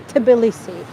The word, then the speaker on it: Tbilisi: Well, Tiflis, it was just so-called the European name, basically, because Tbilisi was very difficult to pronounce, and Tiflis wasn't really used by Georgians. Georgians would always say Tbilisi.